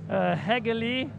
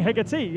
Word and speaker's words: Hagerly: Hagerly T2. There you go, Hagerly. I think we were saying Hegarty.